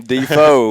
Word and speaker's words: Defoe: behind it mm-hm and you pronounced your name Depot that's a that's right for the record you know we were saying the pho before we got here and he had to set it straight on that yeah and